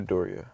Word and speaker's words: Midoriya: What if I'm saying it wrong? I'm gonna just say Medora. I feel like it's Midoriya. It's definitely Midoriya.